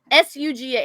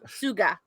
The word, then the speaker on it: Suga: look shook a shirt s-u-g-a it's actually shoe it's actually suga it's actually sugar sugar if you pronounce it korean but yeah by the